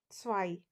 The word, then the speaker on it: zwei: Next is zwei, which means two.